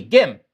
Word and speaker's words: Gim: It's Gim, like pronounced with a G. Gim.